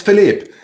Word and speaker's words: Philipp: Philippe or Philipp? How would you like to pronounce it? It's Philippe. Philippe, yeah.